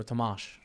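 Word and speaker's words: Tomasz: like tomash tomash okay yes is pronounced like Shh so tomash okay thank you thank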